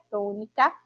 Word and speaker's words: tônica: também representam aí sílaba tônica nas palavras. E a palavra tônica, que é trissílaba, que tem aí três sílabas, a gente consegue identificar, não é, que a sílaba tônica é a sílaba to.